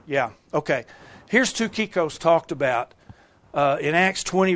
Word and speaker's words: Tychicus: And you can see at the end it says Tukikos. And no, it doesn't say Tychicus. It says Tukikos.